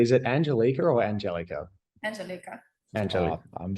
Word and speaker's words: Angelica: And are we pronouncing that correctly? Is it Angelica or Angelica? Angelica.